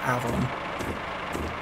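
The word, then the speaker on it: afon: A-F-O-N, it's pronounced Avon.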